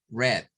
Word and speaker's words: read: different in the pronunciation we have to say red red red red eyed red like the color in this case is the same pronunciation like the color red red for the past okay uh yesterday I read a book that means is this verb that the pronunciation is red we have one more